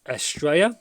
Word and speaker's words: Estrella: So like I said before, Jay Audio's Estrella, which is the correct pronunciation.